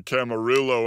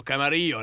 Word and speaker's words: Camarillo: I've never been there I think there's a Camarillo Outlets that's where I was no I know where you are talking about is that you are pronouncing it wrong Camaro Camaro no Camaro that was very very close though my friend